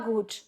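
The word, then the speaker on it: gut: ना, वैसे ही same गुड में, ये गुड नहीं है, गुड, ठीक है। एस गेट मियर गुड, या वेरी गुड है तो S gate मियर share गुड, S gate मियर share गुड।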